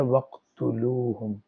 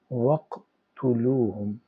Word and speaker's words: وَاقْتُلُوهُمْ: تو یہ بن گیا وقتلوہم۔ اگر الگ الگ ہوگا تو واو الگ ہے، اقتلوہم الگ ہے، لیکن پڑھتے ہوئے اس کو ہم پڑھیں گے وقتلوہم۔ اور یہ جو اقتلو